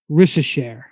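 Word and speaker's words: Risacher: can say is Zachary his last name I think is pronounced rishashare um and he plays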